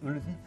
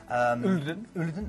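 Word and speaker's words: Olden: The first port of call is Ulden. Ulden. I'm trying to give it the Norwegian pronunciation here.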